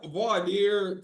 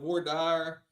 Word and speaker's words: voir dire: Am I pronouncing it properly? Yeah, voir dire. Some people call it voir dire.